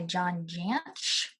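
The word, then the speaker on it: John Jantsch: I read Duct Tape Marketing by John Jansch. That's how you pronounce that.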